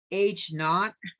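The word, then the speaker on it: H₀: call the null hypothesis it's pronounced h naught it sounds like that we say h naught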